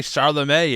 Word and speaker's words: Chalamet: Who doesn't know who Timothy Chalamet is?